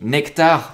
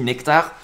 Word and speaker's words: NCT: lion le token NCT qui se dit nectar merci à CEM qui m'a dit Nono ça se dit nectar parce que Nono il